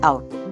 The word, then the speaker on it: cout: It is pronounced as cout.